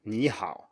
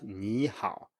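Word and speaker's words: 你好: of course, which is when we have 2 third tones, and then the first one rises. And we saw this in the episode about the third tone, actually. We said 你好.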